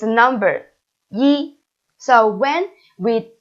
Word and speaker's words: 一: one is what's this it's a number right yes it's a number ye so when we say a number we we should pronounce it as first home and the second